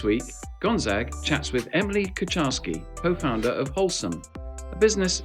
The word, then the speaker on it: Kucharski: And here today we have Emily Kucharski. So how are you, Emily? I'm great, and you pronounce my surname really well.